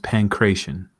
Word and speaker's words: pankration: definitely lean into that according to YouTube it is pronounced pankration one more time and